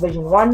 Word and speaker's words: Vision11: Instagram at vision11 events again my company is pronounced Vision one though but vision11 event um